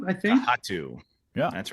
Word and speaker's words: Kohatu: So and as far as the hop is concerned, I'll just spell it. KOHATU. Oh yeah, Kahatu, I think. Kahatu.